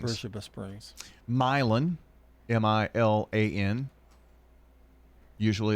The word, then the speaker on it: Beersheba Springs: Beersheba Springs, because it's spelled Beersheba, but it's called Beersheba Springs. Beersheba Springs.